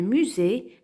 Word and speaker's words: musée: et la lettre S qui se trouve dans les mots et qui se prononce Z on a une case